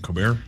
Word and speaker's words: Colbert: Colbert?